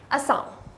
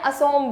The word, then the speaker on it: असम: ASSOM, असम बोले या असोम बोले। बेटा असम ही बोलेंगे हम लोग, वो वहाँ के लोग जो बोलते हैं। असोम जो है मोस्टली वहाँ के लोग बोलते हैं क्योंकि वहाँ पे बंगाली यूज़ होती है, ठीक है।